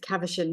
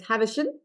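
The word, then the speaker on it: Khavinson: He also trained under the very famous doctor, and we would pronounce it Cavachon here in the USA or Australia, but I am told the correct pronunciation is Havachon in Russian.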